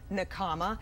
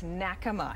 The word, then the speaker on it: Nakama: Most people pronounce the restaurant name Nakama. It's actually in Japanese, the pronunciation correctly is Nakama, and it stands for Circle of Friends.